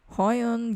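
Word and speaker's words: Huion: way high on style you pronounce it high on gave me a tablet it's a display tablet i think it's the canvas 13.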